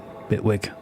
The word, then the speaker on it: Bitwig: I don't pronounce the T, I say it with a very crappy British accent. Bitwig.